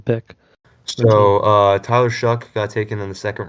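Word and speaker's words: Shough: How do you say his name? Shuck, like corn.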